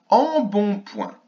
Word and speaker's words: embonpoint: Embonpoint. En, bon, point. Alors on a une lettre muette, ici, je vais la mettre en rouge, on ne l'entend pas.